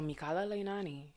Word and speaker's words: Mikala Leinani: pronounced that way but it is a hawaiian name so mikala leinani is how it is said and my grandmother put